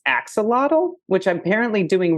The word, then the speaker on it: Axolotl: a two minute video in English it's commonly pronounced Axolotl and oxalato oh it's Axolotl oh